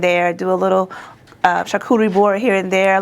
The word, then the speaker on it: charcuterie: So, what inspired you to start creating charcuterie boards? Is that how you pronounce Let me say it right.